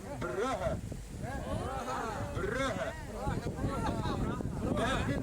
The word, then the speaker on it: Brugge: And over here, do you guys actually know how to pronounce the name of my city? You hear me say Bruges, Bruges, Bruges all the time, but here we say Brugge.